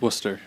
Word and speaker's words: Worcester: It's Worcester.